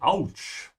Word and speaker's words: Autsch: You skip the T here. Ouch. In English, there's a lot of sounds sometimes you don't actually write. If you listen carefully, also in English, you say ouch. There's actually a T sound, but it's just not written.